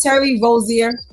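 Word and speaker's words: Terry Rozier: Am I pronouncing his name correctly, guys? Is it Terry Rosier?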